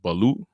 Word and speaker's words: balut: I don't know if how you say it, if you pronounce it the right way. Is it balut?